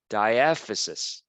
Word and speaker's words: diaphysis: shaft right here and that is called the diaphysis diaphysis the auto caption is totally not picking